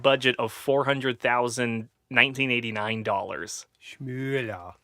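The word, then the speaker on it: Schmoeller: Schmüller. Schmoller? Yeah, with the OE there.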